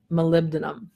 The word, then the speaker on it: molybdenum: it including myself so the phonetic pronunciation is Molly Beaton molybdenum so Mario so I